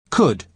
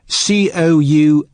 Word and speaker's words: could: Listen to the pronunciation. Could. Could. You spell it C-O-U-L-D, but the letter L is silent. Could.